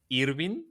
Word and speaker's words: Irvin: Here in Mexico, we pronounce it Irvin. Irvin. Okay. Irvin. Yeah, it's kind of Yeah. weird, right? But I have seen very on a very different places that they write it and pronounce it Irwin.